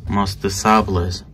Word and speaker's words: Musc de Sable: the name, is the Musc de Sables. Or Musc de Sable. I think the S is silent.